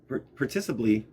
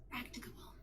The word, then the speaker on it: practicable: as far as practicably participly among oh p participly. Oh my gosh. I got to look at this word everybody. I'm not saying it correctly. Practicable. Practicable. Yeah, I was wrong.